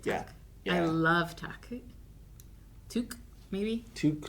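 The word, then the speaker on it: Tuk: Took, maybe? Tuck.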